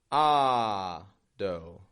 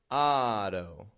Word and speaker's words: auto: Notice the syllable stress there. Ah-do. Auto. Strong, then weak.